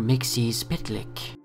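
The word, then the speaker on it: Mxyzptlk: personal pain number three Mr Mixie pitlick according to Wikipedia that's how you pronounce it so that's what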